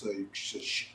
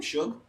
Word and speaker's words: Suge: I don't touch Suge. How do you say his name? Suge. Suge.